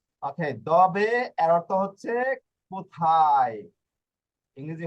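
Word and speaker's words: dove: ইংরেজির মতই কিন্তু দুইটা দিকেই রয়েছে ওকে এরপর ডবে ওকে উচ্চারণ যদি না পারেন তাহলে এটা আপনারা দপ করবেন ওকে না ওকে দবে এর অর্থ হচ্ছে কোথায় ইংরেজি হচ্ছে হোয়ার হ্যাঁ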